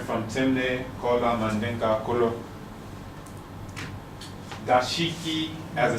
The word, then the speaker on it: dashiki: this is a nice dashiki. And the pronunciation, donshiki. So you see that even the phonetics have shifted to something that's more readily pronounceable by Africans there.